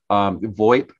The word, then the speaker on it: VoIP: VoIP technology. That's how you pronounce that.